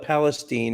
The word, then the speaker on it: Palestine: a palace it's palestine they call it palestine instead of palestine texas they just changed the pronunciation they sure did i